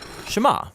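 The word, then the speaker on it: שְׁמַע: is hear or listen which in hebrew is pronounced shema that's where the prayer gets its name now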